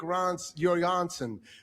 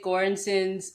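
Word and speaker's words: Göransson: Lwick Ron Yansen. Lyrics by Raphael Sadi and Lwick G. Ronson. Nope. Gee. And it's it's in it's interesting that he mispronounced Ludwig Gorensson's name twice.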